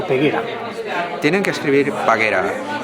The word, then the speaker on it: Paguera: peguera tienen que escribir paguera y si lo pronuncian como lo pronunciamos aquí paguero simplemente la vocal muda tanto la a inicial como la a final pues tienen un sonido distinto al castellan pero se escribe exactamente